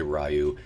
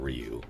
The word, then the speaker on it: Ryu: I don't know how to say it, because in the movie they say Ryu. In everything else since then, it's been Ryu.